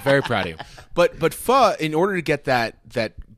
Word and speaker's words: pho: And pho, for all of you that are out there that aren't quite sure, that's where you see P-H-O is pronounced pho.